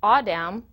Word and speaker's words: AAWDM: leadership Lab video module series aawd and M pronounced audam is a 501c3 non-profit formed to advance the